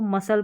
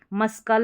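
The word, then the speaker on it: muscle: तो मैक्सिमम यही वाली स्पेलिंग यूज़ में आती है। फिर भी देख लें। इसको मसल पढ़ेंगे। मस्कल नहीं पढ़ते।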